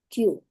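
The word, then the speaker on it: きゅ: Ki ditambah dengan yu. Nah, ini dia Q. Dibaca Q.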